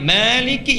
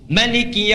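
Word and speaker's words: مالك: Maliki Yaumiddin bisa dibaca dengan 2 cara. Panjang Maliki yang kita baca, bisa pendek riwayat Qalun Maliki Yaumiddin.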